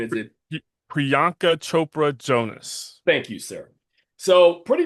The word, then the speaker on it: Priyanka Chopra Jonas: How do you pronounce her name? Is it Priyanka Chopra Jonas.